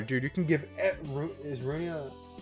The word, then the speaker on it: Runia: Okay, so I've always pronounced it Runia. I don't know if that's how it's supposed to be pronounced, but yeah, I always pronounce it as Runia instead of like rune or like ruin or something.